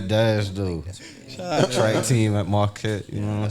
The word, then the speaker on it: Marquette: One of my partners called it Marquita.